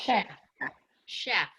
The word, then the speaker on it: chef: parachute parachute yeah um what sound is that CH sh yeah it's like yeah like a cliche like she yeah a good Meg so so uh CVA we would use for that y see where Megan cursor is there that that sh clue that it comes from French is the H with that sh sound now not always so